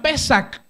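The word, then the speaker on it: פסח: La palabra Pascua es una palabra que en hebreo se pronuncia Pesach. Y Pesach significa pasar por alto.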